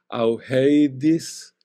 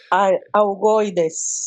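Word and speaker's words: Augoeides: Nos habla del Augeidis. Discúlpame, hermana, ¿cómo se dice esto? Augoidis. Isabel me corrigió. Augoidis. Augoides. Agoides, hermana, gracias.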